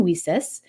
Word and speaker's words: WiCyS: go by her acronym whis spelled w Ys but we pronounce it whis like we sisters because that's exactly what